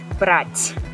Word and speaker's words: брать: For instance, брат, брать. Брать is a verb to take something. Брат is brother. So it's very important to learn how to pronounce that because the meaning of the word can change.